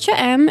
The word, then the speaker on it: Cha-M: It's pronounced Cha-M, and I've been saying it wrong for like most of my Coral Island career.